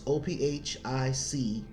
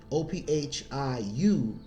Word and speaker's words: Ophiuchus: That's Ophic. No, excuse me. Ophiuchus.